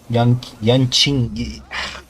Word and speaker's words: Yanqing: Yanqing. Pronouncing Q as chi is so weird.